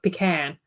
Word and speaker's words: pecan: yeah yeah come on Pecan doesn't sound quite right to me no but I think in Australia it's like pecan so it's kind of short on both there's not a long e and not really a long a in there either yeah I'm not sure well